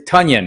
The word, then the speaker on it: Tonyan: hoping that that's not the case uh robert tanyan rest is tonyan i gotta say his name right blue crew